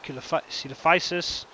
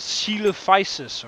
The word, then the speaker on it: Coelophysis: Apparently it's called Coelophysis or something, pronounced in actual English.